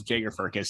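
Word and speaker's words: Jagger Firkus: jager jaeger i heard i heard it was jager fergus so i would like to correct my previous mispronunciations of his name from the past episodes but yeah um the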